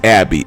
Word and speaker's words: Abi: So you got his daughter Abby, I believe it's pronounced Abby, it's spelled ABI, but she's saying, you know, don't let him out, keep him, you know, keep him in there.